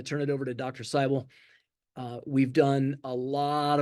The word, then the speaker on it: Seibel: my name is David cyel my last name rhymes with Bible it is my privilege